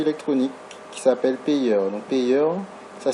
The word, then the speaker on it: Payeer: Donc Payer, ça s'écrit P-A-Y-2-E-R.